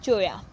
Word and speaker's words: cholla: Okay, a CHOLLA, cholla. It is pronounced as cholla.